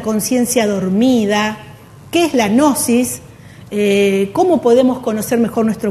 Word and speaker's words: Gnosis: Se pronuncia Gnosis, ¿no? La G con la N, ¿no? Ajá. A ver. Claro, parece como si fuera gnomo, sí.